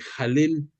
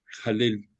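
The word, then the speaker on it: Hallel: lo ubican como el jalel se escribe con h pero se pronuncia como J jalel que es si tú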